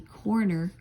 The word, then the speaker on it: Koerner: mother, Nancy Reagan, aka Nancy Coroner, as in coroner, Koerner is how they spell it, lied.